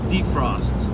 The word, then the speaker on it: defrost: I always stress the first syllable, defrost.